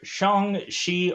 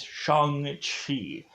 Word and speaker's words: Shang-Chi: do spoil this movie if i say the word shong shi or chang she i apologize because the pronouncing of it i guess is shang chi more than likely i might just get